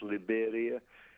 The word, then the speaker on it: Liberia: It's the same spelling as Liberia, only here it's pronounced Liberia.